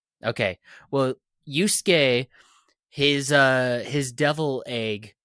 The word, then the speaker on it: Yusuke: sass me too much but how do you pronounce the what's the main character's name yusuke yusuke yusuke they call him something else though with